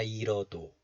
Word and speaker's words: 잃어도: So this letter is pronounced as 일 in isolation. 일. The 히 sound, H sound is hidden. But this 히 sound, H sound, is placed after the consonant 리을 of this double final consonants.